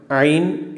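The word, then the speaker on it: ع: ഈ അക്ഷരം ഐൻ എന്നാണ് പറയുക. ഐൻ, ആ, ഐൻ, എ വൈ എൻ എന്നാണ് ഇംഗ്ലീഷ് എഴുതാൻ പറ്റുക. ആ, പക്ഷേ അതിൻ്റെ ഉച്ചാരണം നമ്മളെ തൊണ്ടയിൽ എന്തെങ്കിലും കുടുങ്ങിയാൽ ഉള്ള ശബ്ദമാണ്.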